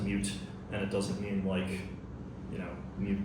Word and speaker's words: mut: So today my talk's going to be about misunderstood mute. I pronounce it mute. I don't know if it's. I've heard some people say mut. I pronounce it mute, and it doesn't mean mute the audio.